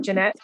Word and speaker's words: Janette: laying down Janet Janette am I saying your name Janette I you're saying it right thank you sure are